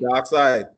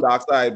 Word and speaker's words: Darkseid: Darkseid. That's how they pronounce it, Darkseid? No, yeah, they pronounce it like that, even though it's spelled differently. Oh, yeah. Yeah, they call him Darkseid, but they spell it S-E-I-D or something like that.